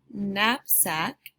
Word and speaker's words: knapsack: It's a N sound spelled with the letters K-N in the word knapsack.